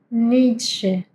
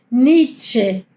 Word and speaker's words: Nietzsche: Nietzsche. Ni- tsche. ¿Bien? Hay que pronunciar, no es Nietzsche, es Nietzsche. Tiene Z. Y no importa en qué lugar esté, si tiene una Z, hay que pronunciarla como ts.